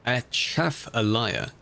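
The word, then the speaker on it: Atchafalaya: If you're wondering how it's pronounced, achaf allaya.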